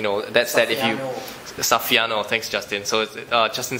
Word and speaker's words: Saffiano: fancy Prada type texture, which I can't really pronounce the name. But you know, that's that if you... Saffiano, thanks Justin. So Justin says it's Saffiano texture, Prada Saffiano texture.